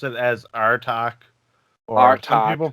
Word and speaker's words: Artach: i say the band name right well we pronounce it as our talk or our time people pronounce it it's our attack we we've heard it all really okay i